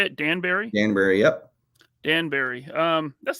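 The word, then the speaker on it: Danbury: Connecticut is that how you say it Danberry Danberry yep Danberry um that's not too far from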